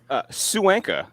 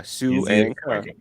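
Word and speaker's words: Suangka: Suanka, just like it's spelled. S-U is Sue, A-N-G is Ang, and K-A is Ka. Suanka.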